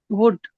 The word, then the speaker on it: would: pronunciation of w l d how do you pronounce it kPa wood that's right I want you all to be